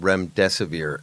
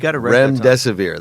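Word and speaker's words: Remdesivir: to be talking about is a drug called Remesae. It's made by Gilead Science, and I always pronounce it incorrectly. Let's make sure I did rem desave.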